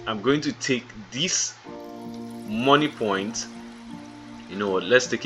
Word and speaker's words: Moniepoint: The M is the initial of their name, so their name is spelled as M-O-N-I-E then P-O-I-N-T, which is money point.